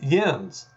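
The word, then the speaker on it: yinz: And then where my daughter now lives in Western Pennsylvania, it's yins for Ewans. And that's the collective you. I think it's spelled Y-I-N-Z.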